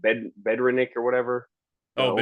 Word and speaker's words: Bednarik: Bedrenick or whatever, the Oh, old Bednarik, Eagles.